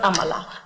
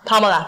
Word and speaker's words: Pamela: It's not Amala. Pamela. Pam. Pamela.